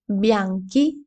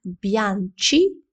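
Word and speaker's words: bianchi: Білі бянки. Біла бянка. Білі у жіночому роді бянке. Як бачиш, у цьому прикметнику з'являється літера АК. Якби тут не було цієї літери, тоді прикметник вимовлявся би як б'янчі, об'янче.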